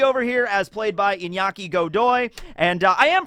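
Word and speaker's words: Iñaki: his name correctly right I used to say inaki and then somebody that was actually Spanish said it's actually more of like a Nia so inyaki and I just hope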